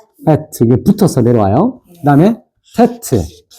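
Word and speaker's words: טית: 그다음에 테트 테트 그다음에 요드 자 한번 읽어 볼게요.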